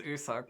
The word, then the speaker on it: Usak: Yeah, because it's like you suck, which Yeah, is very funny.